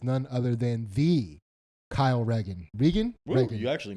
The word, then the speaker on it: Regan: So some people say Regan, some people say Reagan. I feel like a dick when I'm like, it's right. You know what I mean? Where if I'm, Yeah. I pronounce it Regan, but Yeah.